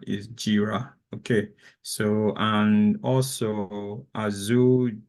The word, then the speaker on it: Jira: r r a so I think you you pronounce this Gyra right it's not Gyra is jira okay so and also AO Dev something around